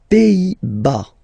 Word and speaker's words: Pays-Bas: Les Pays-Bas. Final S here, not pronounced. Same thing here. Pays, pays, and then bas.